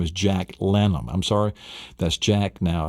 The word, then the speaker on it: Lannom: So that's L-A-N-N-O-M. That's Lannom.